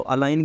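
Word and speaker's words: align: तो अलाइन के अंदर ये जी जो है वो साइलेंट है, तो अगर आप चाहो तो अलाइन से आप बना सकते हो लाइन, ठीक है।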